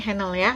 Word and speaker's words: Henle: disebutnya lo lengkung henle tulisannya Henley tapi dibacanya halnya lengkung henle nah kemudian ini